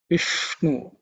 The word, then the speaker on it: Vishnu: Vishnu, the ish is cerebral sha. Vishnu tongue should be pointing upwards.